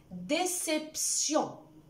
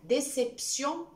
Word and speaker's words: déception: Déception, le T qui transcrit le son S. Donc, déception, pas déception.